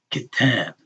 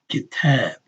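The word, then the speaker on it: كتاب: Except when some vowel is being elongated, then that syllable is longer than the others. Kitab. Right? Kitab. And here it's a two-syllable word, right?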